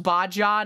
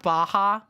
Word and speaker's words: Baja: that ranked competitive sex also exists okay it's pronounced bajja not Baja bajja Blast Snapchat map lication you weren't in